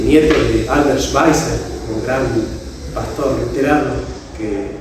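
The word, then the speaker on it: Schweitzer: y Nieto de Albert schweiser un gran pastor leran que hizo muchas obras de Caridad llevó muchas de los hospitales a África Albert schweer se escribe se pronuncia schweiser y sartre fue el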